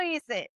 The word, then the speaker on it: hice: And remember, the H is silent. Doesn't speak. Okay. So it's HICE. Okay. For hice.